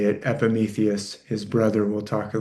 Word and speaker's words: Epimetheus: Uh that EUS is you're saying it right, the way we say it in English, Epimetheus and his brother Prometheus.